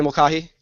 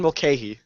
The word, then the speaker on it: Mulcahy: with at J_Mokioki, Mulcahy, Hamza Nofel. You mispronounced it again. I did. Every time. How do you say it? Every time you mispronounce it. How do you say it? Mulcahy.